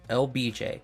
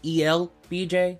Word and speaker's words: El BJ: lesson what's up everyone my name's LBJ that's ebj sometimes the L is silent and I am your